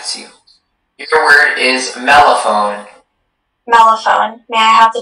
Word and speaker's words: mellophone: Mellophone. Could you, are there any alternate pronunciations, please? There is just the one, mellophone.